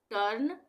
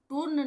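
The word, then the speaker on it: turn: जाएगा जैसे रम टर्न टी और आर दोनों व्यंजन है तो तो इसके बीच में यू आ रहा है यहां पे भी इसका उच्चारण टूर्न नहीं होगा टर्न होगा यानी अ का उच्चारण होगा यू का उच्चारण अ होगा टर्न उसी तरह से रश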